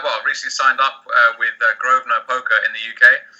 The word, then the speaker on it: Grosvenor: yes I've uh well recently signed up with groa poker in the UK it's actually spelled Grosvenor but pronounced groa I think a lot of Americans uh make